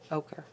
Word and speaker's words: ochre: Ochre.